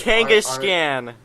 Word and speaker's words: Kangaskhan: Kangaskhan. Okay. I thought it was Genghis Khan. It's based off of Genghis Khan, but I didn't know that. All I knew was Kangaskhan.